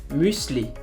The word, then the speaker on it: Müsli: Nous avons aussi le U umlaut qui se prononce U comme en français. Exemple, Müsli, Müsli.